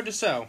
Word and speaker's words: Dussault: Yeah, we'll go Dussault. All right. There's no O in it, but okay. Well, that's how you pronounce the E-A-U. Is that in really? In French, yeah.